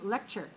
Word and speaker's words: lecture: Okay, number 14 is lecture. L-E-C.T-U-R-E, lecture. All right, so we have in parentheses, we see lec, the first syllable is stressed, cher. So syllable stress code is 2-1, lecture.